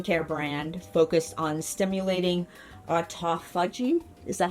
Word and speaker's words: autophagy: clean clinical skin care brand focused on stimulating autophagy. Is that how you pronounce it? Yes, it's autophagy.